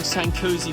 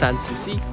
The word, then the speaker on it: Sanssouci: We're currently approaching Sankosi Palace. Just look at how magnificent this building is. What a beautiful sight over Sankosi Park.